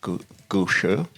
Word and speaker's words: gushu: I was talking to one of the farmers, and the gushu, for example, they say it like gushu. Oh, yeah. Like they say the sure, like Sure, yeah.